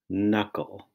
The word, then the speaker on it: knuckle: is spelled m b the n Sound in knickknack is spelled knen the M sound in